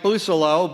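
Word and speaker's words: Bousselot: Currently representing that district is Republican Mike Busolo, but when he heard, that's the proper pronunciation of his name, Busolo.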